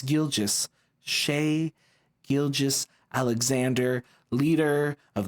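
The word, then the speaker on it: Gilgeous: M middle name and I said gilgas or something weird like that when it's gilis Shay gilis Alexander leader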